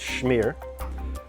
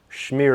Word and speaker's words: shmear: I when you said that it sounds like the word smear and I also thought that it sounded a little bit Hebrew with the shh sound.